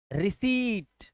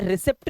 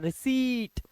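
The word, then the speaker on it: receipt: पे देखिए conceit रिसीव रिट इसे रिसेप्ट नहीं पढ़ता बच्चे इसे बहुत गलत बोलते हैं पी का उच्चारण देते हैं पी साइलेंट होता है रिट ऐसे ही सीजर क्या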